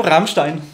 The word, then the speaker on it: Rammstein: ¿Vos y cómo se pronuncia Rammstein, ¿no? Rammstein.